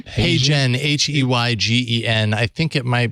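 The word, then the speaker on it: HeyGen: yeah it really is how yeah can you spell that that service you said hey Jen h-e-y-g-e-n I think it might be hey Jen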